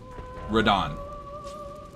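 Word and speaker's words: Radahn: Radon.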